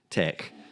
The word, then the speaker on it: TeX: and yes it's teex it's pronounced Tech this is a decades long discussion but that is how it's said so not going to